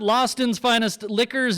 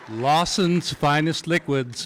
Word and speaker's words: Lawson's Finest Liquids: From Vermont, Lawston's Finest Liquors and Maple Tipple. That's Lawson's Finest Liquids.